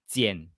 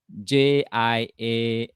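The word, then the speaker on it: 蹇: How to pronounce 39? 39. This one, huh? Okay, this one is called Jian. Jian.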